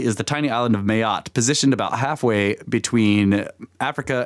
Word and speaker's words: Mayotte: tiny island of Mayotte which is how I think I think it's pronounced that way ma y ou T te I'm just going with Mayotte positioned about halfway between